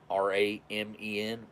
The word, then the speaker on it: ramen: looks like i guess because it looks like raymond r-a-m-e-n raymond although it's pronounced ramen but yeah just about